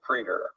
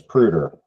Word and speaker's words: Preeter: James Preeter. Did you guys hear that? Mhm. Dr. James Preeter. So I really thought his name was Pruder, and I had even said it wrong.